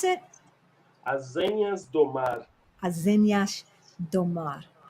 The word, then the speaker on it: Azenhas do Mar: Azenhas do Mar. Exato. Do you the last S? I don't use that. I'm Brazilian Portuguese, so I don't use the on the S.